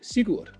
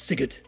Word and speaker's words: Sigurd: In Danish, he would be pronounced Sigurd, and now it's Sigurd.